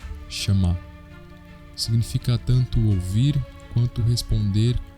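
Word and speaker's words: שמע: No hebraico, a palavra obedecer pronunciamos como chamar.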